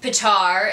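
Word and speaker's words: Petyr: Patar is how they say it in the audiobooks.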